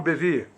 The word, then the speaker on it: Bevere: do autor João vive se escreve John bevere mas a pronúncia é John bevere John bevere ele tem um livro